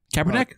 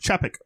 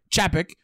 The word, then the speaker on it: Chapek: And because of so, another Bob, how do you say it? Kaepernick? Chapek. Chapek. He's not Colin Kaepernick.